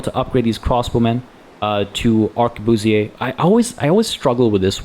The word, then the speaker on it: arquebusier: I always struggle with this word, because I always feel like it should be pronounced like you would in French. Arquebusier. But that I can't do the weird R because it feels weird to me in the context of this word.